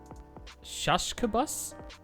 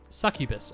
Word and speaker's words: succubus: So it's like suck you bus.